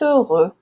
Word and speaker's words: heureux: Heureux é uma palavra bem assim chata de pronunciar. Tenho muitos alunos que reclamam, porque realmente tem dois sonzinhos ali, né, bem esquisitos que a gente não tem em português. Então precisa treinar.